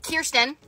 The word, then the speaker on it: Kirsten: All right, so today we have Kirsten. Yep, that's how you say it.